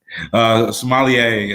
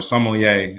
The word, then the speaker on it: sommelier: sommelier or sommelier, as you know, it's pronounced in French, as close as I could get to it.